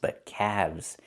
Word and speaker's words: calves: Or you have two calves, not calves, but calves. The L is silent and we pronounce the V sound with vibration plus the Z sound like zebra together.